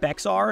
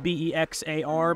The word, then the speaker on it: Bexar: People like to pronounce it BEXAR because of the way it's spelled, B-E-X-A-R, but it is BEXAR Arms.